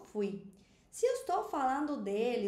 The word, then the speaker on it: fui: Jo, fui, eu fui. É muito comum que os brasileiros falem foi ao invés de fui.